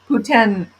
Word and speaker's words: poutine: Canada uh Putin's yeah poutine yep poutin or ptin depending on where you are in can oh see I